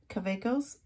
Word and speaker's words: Kaweco: to some other quickos cavecos I say it like a w because you know I I don't speak German I don't have that accent so pardon me if